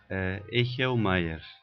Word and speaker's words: Echelmeier: Echelmaier. Essa é a pronúncia então desse sobrenome.